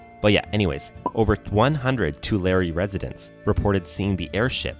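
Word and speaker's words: Tulare: I looked it up I think to you pronounce it to Larry right anyone from that area can let me know but yeah anyways over 100 two Larry residents reported seeing the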